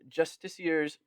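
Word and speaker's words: Justiciar: Then we got Justicier's Portal. I'm saying it that way because I played Baldur's Gate and that's how they say it.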